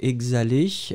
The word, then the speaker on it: exhaler: Alors là, oui, hein, on était sur le B, en fait, hein, c'était exhaler, donc exhaler, E-X-H-A-L-E-R, hein, le H, bien sûr, est totalement muet.